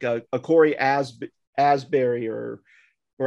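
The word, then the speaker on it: Asbury: and shane or even like a corey as asberry or or asby or i i forget how to say this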